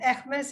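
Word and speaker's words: Hermès: part of that and ekmes is h-e-r-m-e-s and that is how it is pronounced in french so the essex business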